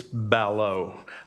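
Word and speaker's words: ballot: Um it's Balo. I understand your bias, but B A L L O T has been pronounced balo in my family for 500 years that I know of.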